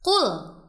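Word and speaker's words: قل: Pertama, di sini terdapat huruf lam sukun yang tidak boleh dibaca memantul karena bukan termasuk huruf qalqalah. Jadi bunyinya qul.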